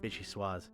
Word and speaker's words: vichyssoise: I hate vichyssoise. Vichyssoise, that's how you say it.